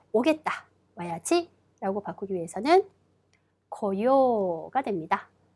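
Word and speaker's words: 来よう: 와야지 라고 바꾸기 위해서는 고요가 됩니다. 자, 하다, 수루라는 동사를 하자 혹은 하겠다, 해야지로 바꾸기 위해서는 시요가 되는 거죠. 여러분 여기서 주의하실 점, 요 의식적으로 발음을 좀 길게 끌어주셔야 한다는 겁니다.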